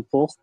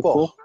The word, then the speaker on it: porc: Le porc. On ne prononce pas le C, hein, le porc.